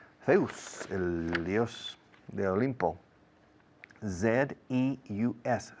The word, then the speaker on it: Zeus: Z-E-U-S. Zeus, ¿cómo suena? The same in English and in Spanish.